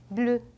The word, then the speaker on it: bleu: 이 단어는 bleu. 제가 발음이라고 적었지만 으가 아니라 입은 항상 동그랗게 모은 상태로 으라는 발음을 한다고 생각하시면 돼요. 그래서 bleu 이렇게 되고 그 다음 보게 되면